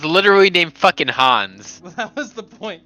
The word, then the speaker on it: Hans: Yeah, it's fucking German. It's Hans. Say it right, boys.